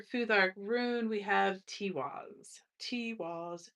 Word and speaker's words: Tiwaz: Tiwaz, accent on the first syllable.